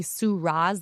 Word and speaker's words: Soo Ra: Hoorah for Soo Ra, kind of like the wine. It depends who I'm talking to. Old white person, it's like Syrah, the wine, A young black person,